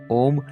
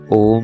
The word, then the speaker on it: ओम: उच्चारण की दृष्टि से ओम में 3 ध्वनियां हैं, अ, उ तथा म।